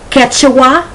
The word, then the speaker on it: Quechua: quaint then you have the q u when the sound is just like the k such as yankee peak quechua mystique opaque okay so this is